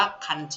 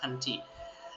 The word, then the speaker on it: 漢字: ครับ ตัว นี้ นะ ฮะ คันจิ อ่าน ว่า คันจิ นะ ครับ คันจิ อย่าง ที่ 2 นะ ครับ ก็ คือ ตัว